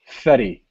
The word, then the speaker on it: Ferry: And he also doesn't pronounce it Ferry. He pronounces it Fetty.